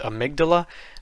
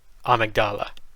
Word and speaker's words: Amygdala: am aware that in english the word is pronounced amygdala but in the game there is a voice actor who says this boss's name and they say it like amigdala you remember that so uh this boss i